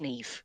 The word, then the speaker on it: Niamh: I went, Niamh, but it's pronounced Neve. It's because there's no letter V in the Irish alphabet.